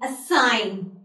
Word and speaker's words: assign: So there are few words over here in which we won't be pronouncing the letter G while we are speaking these words. Fine. So number one word, align. Second, assign.